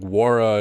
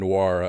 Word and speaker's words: Nwora: Like Nwora and Nwora, I get. Like, hey, you've got an N that's silent.